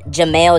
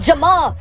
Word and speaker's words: Jamal: Jamail? My name's Jamal.